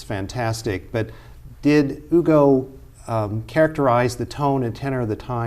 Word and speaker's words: Hugo: it in English, Victor Hugo, but I know the H is silent in French, so it's Victor Hugo, wrote Les Miserables, one of the great novels of the 19th century.